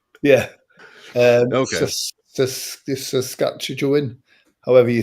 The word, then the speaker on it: Saskatchewan: Saskatchewan, however you say it. Saskatchewan. Exactly as you spell it.